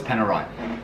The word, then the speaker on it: Panerai: trouble for saying wrong i actually know it's panerai i do know it's panerai it's like porsche